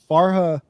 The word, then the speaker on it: Farha: Quote: Farha, is that the right pronunciation? Farha, yeah.